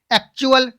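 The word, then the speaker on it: actual: एक्चुअल, टी के बाद UA आ गया।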